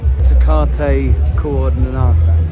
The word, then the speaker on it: Tecate Coordinada: Tecate Coordinada.